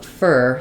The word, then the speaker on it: for: the word for like the preposition it's for you I often reduce that to more of a fur sound it's for you I'm going to give it to you it's for you so our two gets reduced and our four gets reduced but not the numbers